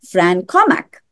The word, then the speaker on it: Fran Cormack: dialing in from Perth, I believe, and that's Fran Cormack. And I believe I pronounced your name correctly.